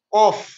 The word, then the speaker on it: qaf: Nah, karena banyak sekali huruf-huruf yang kalau kita tidak tahu cara membacanya maka akan hampir sama. Contoh yang pertama, ada qaf, ada kaf.